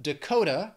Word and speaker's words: Dakota: we have North Dakota four syllables but Dakota has three syllables and the stress is on that second syllable Dakota North Dakota then Ohio three syllables